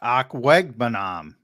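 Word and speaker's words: Okwuegbunam: Yeah, Akwegbunam. That's how there you go. Pronounce. I have to look at it. Akwegbunam.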